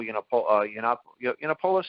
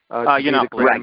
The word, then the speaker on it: Yiannopoulos: Maybe they didn't like the idea of Milo Yiannopoulos, Nathaniel, I'm pronouncing it right? Yiannopoulos.